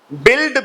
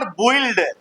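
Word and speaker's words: build: बिल्ड, बिल्ट, बिल्ट। इट इज नॉट बुइल्ड। बुइल्ड नहीं पढ़ना, बिल्ड है। बिल्ड, यू साइलेंट है।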